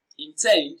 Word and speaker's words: intend: Intend is pronounced and broken down into syllables as intend. Tend receives the stress. It is pronounced louder and longer.